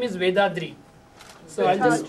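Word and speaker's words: Vethathiri: Vedathiri.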